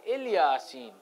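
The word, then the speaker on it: إلياسين: Salamun ala Ali Yasin, the way we read it currently is it's pronounced Salamun ala Ilyasin. Ilyasin and Ali Yasin is the difference of where we put the dash.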